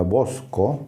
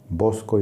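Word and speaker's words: βόσκω: Básicamente la palabra en griego se pronunciaría bosco, con B grande, bosco y con K, y como ya dije,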